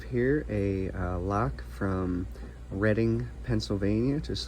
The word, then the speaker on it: Reading: So, I have here a uh lock from Reading, Pennsylvania, just like the Monopoly board, the Reading Railroad. Um, not pronounced reading, but pronounced Reading.